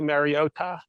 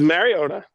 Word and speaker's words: Mariota: point to his mom to get the correct pronunciation. Did you see the Did we talk about the Marota?